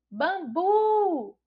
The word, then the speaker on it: bambu: gente não consegue identificar Mas a gente pode falar palavra e descobrir Bambu Bambu a gente já identifica não é e é uma palavra oxítona porque a sílaba tônica é o burro e está localizado aí na última sílaba é uma palavra Bambu